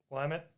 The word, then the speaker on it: Willamette: up going there it's going to be bad Willamette Willamette yeah yeah the law school right yeah that's how it's pronounced well I'm a university yeah or university